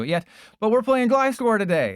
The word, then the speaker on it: Gliscor: It's the fact that they haven't gotten to it yet, but we're playing Glysscore today. And yes, that's how you pronounce it. It's not Glycer. It's Glysscore. Just like how I gllycored with your mom last night.